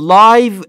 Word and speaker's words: live: یک فعل داریم در انگلیسی live یعنی زندگی کردن اما یک اسم هم داریم live یعنی زنده تلفظشون فرق داره با هم این موضوع هم اینجا